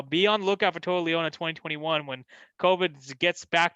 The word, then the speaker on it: Toa Liona: Toa Liona. Am I saying it right? Toa Liona? Or is that wrong? Toa Liona.